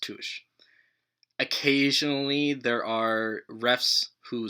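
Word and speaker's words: touché: of media with fencing in it she says touche it's pronounced tush occasionally there are refs who speak in french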